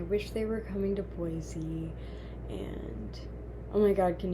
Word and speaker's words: Boise: the Midwest and uh when you say Boise which just feels like the correct way to say it while looking at the word you know b o i s e that's Boise um and then people